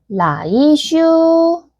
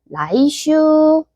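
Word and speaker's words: 来週: 힌드는 올넷자랑 발음이 비슷해요. 바로 라이슈.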